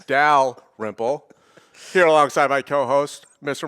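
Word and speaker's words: Dalrymple: to get it right somebody who's calling me out for not pronouncing the l and my last name it's dal ripple here alongside my co-host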